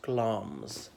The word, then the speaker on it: Glamis: Shakespeare well in Macbeth notice it's spelt the Glamis but pronounced gloms so her father was